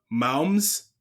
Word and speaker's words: Moms: some work with the Moms Mom. Plus Choir. Yeah. Mom. Did I say it right or Yeah, we kind of just say okay? moms, just like a mom.